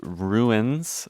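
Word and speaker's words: Ruines: um an album by the artist Ruins, but I think spelled like in French because I think they're from Quebec. Um so like R U I N E S.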